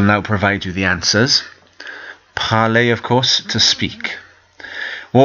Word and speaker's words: parler: Parler, parler, parler. You'll notice that the E and the R sound is an A sound.